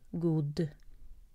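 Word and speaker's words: guð: You can just spell good with de, but some people spell it with et, and it's still pronounced like a de, de, good.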